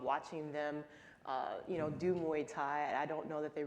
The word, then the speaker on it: Muay Thai: We know that you were very active in Muay Thai. Am I saying it right? Yeah. Muay Thai.